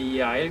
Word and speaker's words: Yeiahel: Ça, c'est le prière adressé avec le 25e et 22e génie qui c'est Yahel, qui s'écrit Y-E-I-A-H-E-L, et c'est un trône.